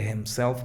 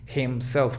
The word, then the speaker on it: himself: No pronuncies la H de himself como que himself, como una J, no. Muy sutil. If not himself, muy sutil, ahí va.